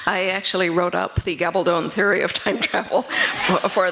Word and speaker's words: Gabaldon: And therefore, in English, it's pronounced Gabaldon, still with a long O. I tell people it rhymes with bad to the bone.